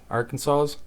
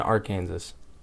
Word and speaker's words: Arkansas: way Arkansas is spelled you don't pronounce the last S I don't like that it's Kansas and AR Kansas Arkansas probably got jealous